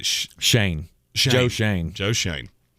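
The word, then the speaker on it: Schoen: Shane. Joe Shane. Joe Shane. I wanted to call him Scone. Scoin.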